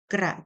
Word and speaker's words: กรู: ไฟ คำ ที่ 8 กระ จ้อย ร่อย กระจ้อย ร่อย ร่อย อ่าน ว่า กระจ้อย ร่อย เล็ก นิด เล็ก ๆ คำ ที่ 9 กรู กรู อ่าน ว่า กู หมาย ถึง อาการ ที่